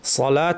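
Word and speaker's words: صلاة: আলিফ আছে লামকে টানতে হবে এই ওয়াও কিন্তু উচ্চারণ হবে না। সলাত শব্দটা লেখার রীতি হচ্ছে এই।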